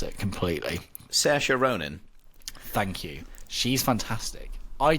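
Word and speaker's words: Saoirse Ronan: say the lead actress's name so I don't mispronounce it completely Sasha Ronin thank you she's fantastic I didn't even know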